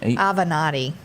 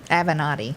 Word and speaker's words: Avenatti: jail oh goodness michael of how do you pronounce his last name avenatti avenatti yeah i never went to school nobody named